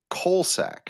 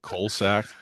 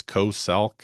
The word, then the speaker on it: COSALC: You have the website, Colorado State COSALC, but you pronounce it Colsac, COLSAC. What's up with that? Maybe that's how it comes out, but I don't really mean to call it coal sack. But yeah, I guess you could say it's co-salk or however. Yeah, No, it just that's what I've done, and I'm not, it but pronounces much better as Colsac.